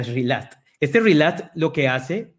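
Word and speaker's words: relaxed: Y este relaced, en verdad se pronuncia relast.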